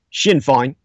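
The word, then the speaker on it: Sinn Féin: my executive producer uh pavel Edward pahala says he pronounces Shin fine or something like that has called for a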